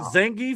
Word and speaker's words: Zangief: I mean, is this is you pronounce this? Is this Zangief?